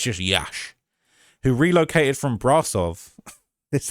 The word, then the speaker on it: Iași: Iași. It's just Iași.